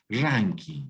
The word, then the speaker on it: Rankine: Ranking, sí, correcto. Se escribe Rankine por si acaso, porque está en inglés, pero se lee ranking, ¿no?